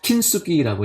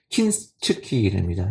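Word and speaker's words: 金継ぎ: 킨스키라고 이제 영어로는 그러는데요. 발음으로는 얘기 나오더라고요. 킨츠키입니다.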